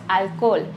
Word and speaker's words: alcohol: quiero dejar el alcohol recordemos que la h no se pronuncia y decimos alcohol como si tuviera solamente una o otro ejemplo este año